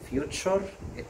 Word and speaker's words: future: the future، the future t u r e تنطق cher future اللي هو المستقبل.